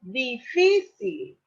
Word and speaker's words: difícil: Por ejemplo, difícil. Las átonas aquí las distinguimos que es di y si.